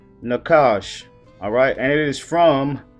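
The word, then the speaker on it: נָחָשׁ: serpent which is Hebrew 51 75 which is pronounced Nakash alright and it is from Hebrew 51 72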